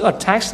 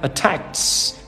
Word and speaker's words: attacks: Cho nên cái chữ attacks này á nó đọc là S mọi người. Ok ha. Attacks, attacks.